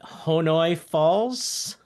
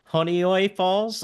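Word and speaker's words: Honeoye Falls: Pittsburgh Queens Northampton the place I can never pronounce so what is it honoy falls honoy falls uh Boonville Long Lake Nukem New York City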